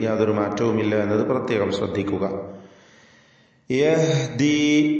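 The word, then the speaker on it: يهدي: യഹ്ദി, നേരത്തെ പറഞ്ഞ ലാ തഹ്ദി എന്ന് ഹാഇന്റെ ഉച്ചാരണം ഇവിടെയും ശ്രദ്ധിക്കേണ്ടതാണ്.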